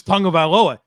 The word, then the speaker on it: Tagovailoa: The worst is Tagovailoa, which is how you say it. And then people are like, it's not Tagovailoa. Like, yes, it is. Yes, it is. Yeah.